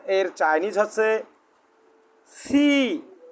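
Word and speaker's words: 七: জি না, সি সি সি। উচ্চারণ তোমারটা ক্লিয়ার আসতেছে না, তোমার উচ্চারণটা আরও ভালো করতে হবে, উচ্চারণের সঠিক উচ্চারণটা বলতে হবে।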